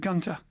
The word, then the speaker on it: Gunter: the place los angeles california it is here a recent discharge young army veteran named herb reed recruited cornell gunther would just pronounce that gunter cornell gunther joe jefferson